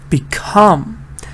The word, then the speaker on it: become: Remove, dislike, rebuild, become. This is very common. Everybody puts the stress on the first part. Become stresses on the second part.